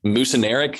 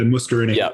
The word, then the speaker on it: muscarinic: But like there's the mucineric, I think is how you pronounce it. Yeah, muscarinic. Yeah.